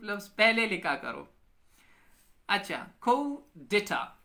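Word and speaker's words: coup d'état: अच्छा, ये क्या है, हनीन खान ने कूप, ये डेटा कूप है ये कूप लफ्ज पहले लिखा करो। अच्छा, को डेटा, ये स्पेलिंग तो सही है लेकिन प्रोनाउंसिएशन फिर इसका अलग होता है।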